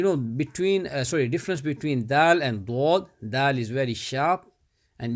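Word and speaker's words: ض: Ya zabaya ha dwad bish hud. Strongly join. Dwad is we pronounce from the side of our tongue.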